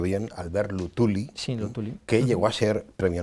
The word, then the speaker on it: Luthuli: El líder de este partido, del CNA, era creo que lo pronunció bien, Albert Luthuli, sí, Luthuli, que llegó a ser Premio Nobel de la Paz.